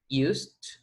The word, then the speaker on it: used: And we use used. Remember the pronunciation of the D here is used. It doesn't have any sound, any vibration. So the D sounds like T, strong, used, right?